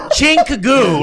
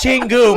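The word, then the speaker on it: 친구: Chinkagoo, right? Is that? No, it's Chingoo, my friend. There's a G in there.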